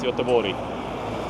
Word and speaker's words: Göteborg: It's not Gothenburg, it's Göteborg. Double G is no G being pronounced.